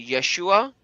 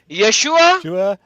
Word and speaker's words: Yeshua: you something to say you have to say yeshua you are said it right so once again yeshua